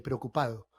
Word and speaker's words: preocupado: es una de fuerte nadie dice la del participio de la misma manera nadie dice estoy cansado estoy preocupado verdad decimos algo como estoy preocupado preocupado preocupado si ustedes lo hacen lentamente y se dan cuenta cómo lo pronuncia se dan cuenta que ni siquiera la lengua se termina pegando a los dientes completamente es preocupado bueno con el paso